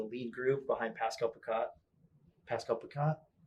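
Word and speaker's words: Pascal Picotte: Pascal Picat? Is that how you say his name? Yeah, you got it.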